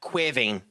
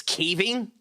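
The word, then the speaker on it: Caoimhín: So there are multiple ways to pronounce that. The way you have it spelled there, because there are no fadas on it, would be pronounced slightly different. But I would pronounce that with the fadas,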